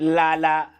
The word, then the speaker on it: lala: The previous week we did Lala, which means sleep, and how you say it's la la la la la la. However you wanna say it, I don't care what accent you use, but it means sleep.